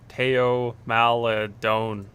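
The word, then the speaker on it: Théo Maledon: Theo Maladon.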